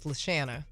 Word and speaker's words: LaShanna: you can find me and it is leshana it's make sure you pronounce my name correctly because i've been mispronouncing